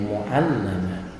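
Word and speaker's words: مُعَلَّمَة: Cara bacanya lamnya ditasdid dan di fathah. Bi fathil lam wa tasdidiha. Di fathah huruf lamnya itu dan di tasdid membacanya mu'allamah.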